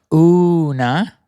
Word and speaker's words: Una: She works with a woman named Sophia who channels an alien named Una, and you have to say it that way because that's how it's said, and she says that in the episode that you're going to hear today.